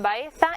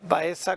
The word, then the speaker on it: Baeza: edad moderna es Baeza, la C con cedilla, que tiene digamos, esa pronunciación tan especial que todavía muchos de nuestros ciudadanos la mantienen, el seseo, Baeza, pues era Baeza con C con cedilla,